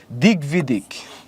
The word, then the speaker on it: দিগ্বিদিক: এটা দিগ্বিদিক, তার মানে দিগ্বিদিক, এই যে দিগ্বিদিক, এখানে গ হবে, সরি, দিগ্বিদিক, এখানে একটা গ হবে, দিগ্বিদিক।